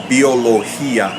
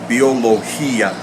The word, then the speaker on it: biología: as what occurs in biología now there the hi is a strong Bell because there's a stress on the I and therefore it is its own syllable biología now if I didn't